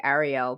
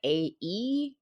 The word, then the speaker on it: Aerial: I'm gonna mispronounce it because I want to say Ariel, but it's like Aeriel, like Aerial.